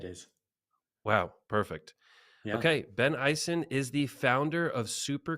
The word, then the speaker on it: Issen: that I didn't even get to check the pronunciation of your last name I'm just calling you Ben so is it bison yeah it is wow perfect okay Ben Eisen is the founder of super creative Ben is